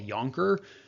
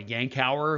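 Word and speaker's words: Yankauer: available it's called the Yonker or at least I was taught to call it a Yonker I think other places in the world they call it a yank hour which is probably the correct pronunciation but whatever there are lots of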